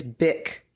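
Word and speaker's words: Bich: __ ] but it's Bick. B I C H. That is how you say her name. No tea involved.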